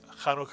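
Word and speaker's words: Hanukkah: it's khu notu butu the first syllable ISU and the second syllable is kauka kanuka and of course kanuka is the Jewish holiday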